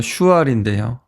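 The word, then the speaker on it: שועל: 또 여우의 이 히브리어는요, 슈알인데요. 사울 왕의 그 발음과 비슷합니다.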